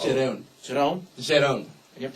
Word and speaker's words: Jerome: I'm probably going to mispronounce his name. Jerome. J-E-R-O. It's Jerome.